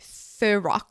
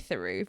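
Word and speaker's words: Theroux: influences that he follows calls him Louis Thorox. Thorox. Doesn't even pronounce his name. Who does Louis Thorox guy? Yeah. Who does Louis Thorox guy? Anyway, it's Louis Thuru.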